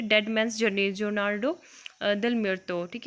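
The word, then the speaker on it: Jornada del Muerto: Dead man's journey, जोनार्डो डेल मिर्तो, ठीक है, इसको ओनार्डो डेल मिर्तो बोलते हैं, जे इज साइलेंट, तो ये है।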